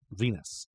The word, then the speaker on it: Venus: from the planet V Venus rhymes with penis does RH with penis